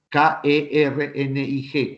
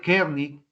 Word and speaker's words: Kernig: K-E-R-N-I-G, Kernig.